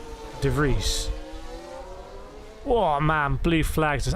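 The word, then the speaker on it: De Vries: close to Netherlands that it's it's pronounced DeVries oh man blue flags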